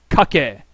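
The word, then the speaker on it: かけ: it's actually pronounced kak there are no silent e in Japanese okay ah here we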